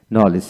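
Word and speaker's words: knowledge: এল ই ডি জি নলেজ এখানে ডি এর উচ্চারিত হবে না তারপর আসেন নিড নিড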